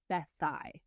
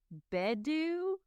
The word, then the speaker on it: Beddau: It is spelled Beddau, and it is pronounced Bethai.